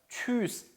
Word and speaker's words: Tschüss: 자, Tschüss. 우리 이거 첫 시간에 봤었죠? 우 umlaut니까 그렇죠? 위하고 다르다 그랬어요.